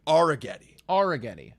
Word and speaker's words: Arrighetti: I found the pronunciation. Arrighetti.